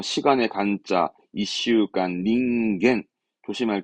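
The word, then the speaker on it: 人間: 그리고 뭐 나머지는 뭐 시간의 간자, 이슈간, 닌겐 조심할 거. 원래는 칸하다가 인간만큼은 닌겐.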